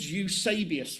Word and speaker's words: Eusebius: EUSE B-I-U-S. E-U-S-E-B-I-U-S. Eusebius. That's how that's pronounced, right?